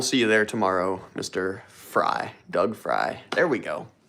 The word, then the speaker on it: Frey: and it is pronounced Fry. Oh my god, Doug Fry, thank you for correcting me.